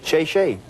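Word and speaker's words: 谢谢: Oh, thank you in Chinese is shay shay.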